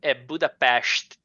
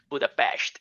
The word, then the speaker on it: Budapest: friend told me, like, although Budapest in Hungarian Budapest, there is for Brazilian people is kind of a X in the middle of the word, right? Budapest.